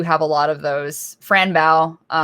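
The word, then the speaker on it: Fran Bow: Franbow will always be, or Frambo, depending on how you pronounce it, was a very like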